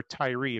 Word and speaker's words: Tyre: equal speaking to the king of tyre or tyree if you wanted to it depends on how you want to again pronounce it uh which which